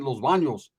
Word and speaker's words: Los Baños: Why do the white people always say it like that? Los Banos. We're going to Los Banos? I said, yeah, we're going to Los Banos. Say it like it's fun. Say it with your chest, brother.